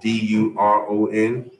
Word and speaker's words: Doron: Doron is Duron.